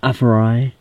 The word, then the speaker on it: AFERIY: Est-ce que je le prononce bien? Oui. Ouais, Aferi.